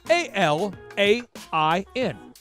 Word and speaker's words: Alain: It is pronounced Alain, which is a French version of Alain. Alain. And again, the name is spelled A-L-A-I-N. You don't say the N.